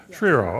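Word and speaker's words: Schriro: And we have the director of the Department of Corrections, Dora I want to make sure I pronounce this, Shiro? Shiro, all right.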